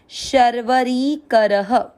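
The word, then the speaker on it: शर्वरीकरः: अ की मात्रा तो विसर्ग को पढ़ेंगे ह, शर्वरी करह।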